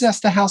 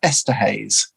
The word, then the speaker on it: Esterhaus: How is Esterhaus spelled? Esther, Ester, and House as in Haus, like the German. So, okay, I sometimes pronounce that Esterhaus.